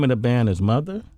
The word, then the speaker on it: MOTHXR: The name of the band is Mother? Mother, yeah, spelled with an X. With the X, where the E would go. Yeah, MOTHXR. Okay.